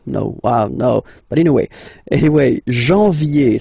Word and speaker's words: janvier: But anyway, janvier, so that's the way to pronounce it. Janvier, A-N, en, okay, and then ye, janvier. Then comes février, février.